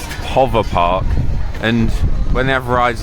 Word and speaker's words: PowerPark: to get injured so apparently in finnish this is supposed to be pronounced hover park and when they have